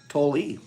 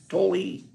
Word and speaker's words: Tolle: It's pronounced Tolle, is it? Tolle. Did not know that. I've said Tolle all my life. Tolle.